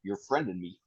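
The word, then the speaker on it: Yürf Rendenmein: it's pronounced "your friend and me."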